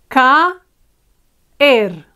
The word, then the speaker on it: caer: No nos dejes caer. Caer, two syllables, because we have two strong vowels, a and e.